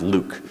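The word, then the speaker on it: LIWC: would count word count Li WC pronounced Luke and it's basically a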